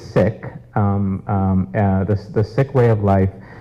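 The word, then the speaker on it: Sikh: sick view of Life sick s-i-k-h not I'm a physician not sick and I get that confused a lot but the proper pronunciation is is sick the sick way of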